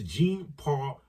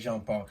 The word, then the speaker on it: Jean-Paul: Same day, LFA 206 Keegan Ginrich 9-3 versus Jean-Paul Lebel Sanye. Why you say it like that? Jean-Paul, you know it's Jean-Paul.